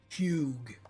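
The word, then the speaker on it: Hewg: It is spelled Hugh. H-E-W-G. Hugh.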